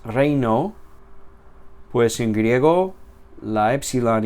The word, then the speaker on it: reino: O en español, la palabra reino, ei, no es reino, es reino.